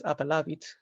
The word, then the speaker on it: appellavit: And that comes into ecclesiastical Latin as appellavit. You can see these stresses on that A. It's on the second syllable because that A is long.